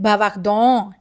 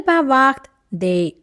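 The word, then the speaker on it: bavardent: ENT will remain silent, okay? Don't pronounce it bavardon. No, that's a wrong pronunciation, okay? So it is elle bavarde.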